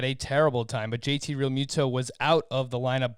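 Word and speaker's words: Realmuto: to replace jt real muto i've always called real muto but then i heard him say his name recently and he pronounces it real muto so i guess i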